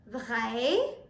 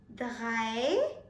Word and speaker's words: drei: Now if you pay close attention to the R of the drei, then you will understand that we are pronouncing it differently. We are not pronouncing it as drei. Instead, we are pronouncing it as drei. Drei. Germans pronounce R differently.